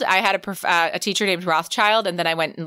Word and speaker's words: Rothschild: it's the same like rothschild i had a teacher named rothschild and then i went and lived in israel and they pronounce it so differently they pronounce it rock chilled and that's very different so anyhow i know